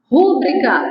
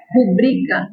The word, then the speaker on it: rubrica: não tem terminação tá rúbrica errado apesar de a gente ouvir muitas pessoas falarem rúbrica O correto é rubrica ela é paroxitona tá bom menu ó